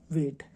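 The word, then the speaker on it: weight: और एक होता है डब्लू ई आई जी एच टी ये इसमें जी साइलेंट है इसमें कौन सा नियम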